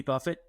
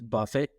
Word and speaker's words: Buffett: speaking of Jimmy Buffet it took me a while to realize that it's Buffett and not Buffet like well into high school I mean it is spelled buffet and it is it is wildly confusing and he's also like